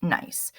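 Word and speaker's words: gneiss: could turn into nice this word is pronounced nice you'll notice nice has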